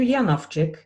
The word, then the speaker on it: Janowczyk: my guest is yanovchik and i'm pronouncing this with my polish pronunciation because it's a polish name it is polish lasagna